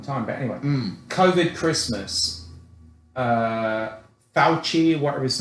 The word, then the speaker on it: Fauci: Fauci. Fauci. No, I like... That guy looks like a rat. No, I like Fauci. Yeah. You gotta throw your lower jaw out when you say his name.